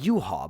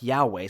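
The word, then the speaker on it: Yhwach: natto did and beat Yahweh it's you ha but it's written like yeah way so I can't stop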